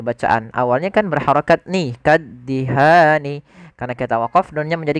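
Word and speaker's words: كالدهان: itu panjang dua harakat maka ketika ada huruf yang dia panjang maaf bacaan dua harakat bertemu dengan huruf nun di akhir bacaan kemudian kita wakaf maka ini kita namakan dengan mad arid lukun panjang nya berapa harakat kita boleh memanjangkan dua harakat boleh pula empat harakat boleh pula enam harakat tapi kita ngambil yang tengah-tengah tidak terlalu panjang dan tidak terlalu pendek maka kaddihan kita coba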